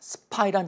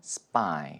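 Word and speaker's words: spy: 뭐 간단한 발음 기술입니다 S 다음에 p를 된 소리로 발음한다 괜소리라고 하는 것은 뭐 굳이 한글로 쓰자면 쌍비읍 발음으로 발음을 한다는 것입니다 자 스파이란 단어를 보시면 아시겠지만 오늘 발음에 품격을 올려 드리고 싶다면 스파이 이렇게 한번 해 보시죠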